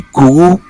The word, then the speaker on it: Kru: But very close to the Creole people, we also have the Kour. It is spelled Kru.